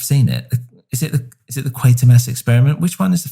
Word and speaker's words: Quatermass: Yeah, Quatermass. Sorry. And I know there's been different stuff like that. There was that film, and I've forgotten it now, where he finds. I've seen it. Is it the Quatermass experiment?